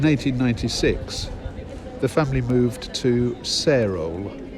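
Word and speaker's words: Sarehole: And then in 1896 the family moved to Sarole, spelt S-A-R-E, Hole, but I believe it's usually pronounced Sarol without the H, which was a Worcestershire village.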